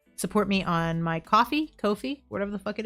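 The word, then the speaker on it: Ko-fi: Coffee rhymes with no fee. Listen, but then why do they say buy me a coffee? So, Kofi, no fee.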